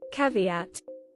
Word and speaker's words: caveat: say it cuz I Lally looked it up caveat so this is about a man named Isaac